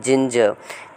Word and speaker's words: ginger: Pronunciation are में नहीं अ में करते हैं, जिंजर।